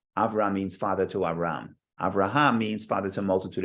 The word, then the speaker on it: Avraham: So don't we typically say Avraham? Abraham, not Avram. Okay. Avram is just the hey gets swallowed up because it's almost a silent letter, but the name is Abraham.